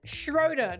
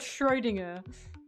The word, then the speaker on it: Schroeder: Schroeder, not Schroinger.